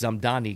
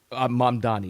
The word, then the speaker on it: Mamdani: 85% probability odds that this Zamdani guy, Mamdani, excuse me, I keep getting his name wrong, is going to win.